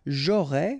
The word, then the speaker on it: j'aurais: J'aurais, final S not pronounced, tu aurais, same thing here.